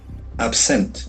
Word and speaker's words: absent: It can act even verb. Absent with okay slightly the accent for the second absent.